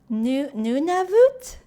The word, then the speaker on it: Nunavut: Nunavut?